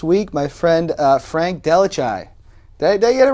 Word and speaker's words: DelleChiaie: my guest this week my friend uh frank delachai did i get it right i said it